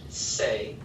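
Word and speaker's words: sé: form so saber in the o form is say we want to make sure we have an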